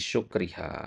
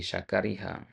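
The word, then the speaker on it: شكرها: Nah, adapun setelahnya fi syukriha. Nah, bukan fi syakariha ya. Fi syukriha. Kenapa dibaca syukr di sini?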